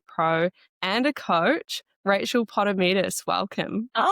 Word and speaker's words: Potamidis: She's an FMG bikini athletic pro and a coach, Rachel Potterus.